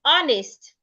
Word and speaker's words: honest: In the word honest, the H is silent.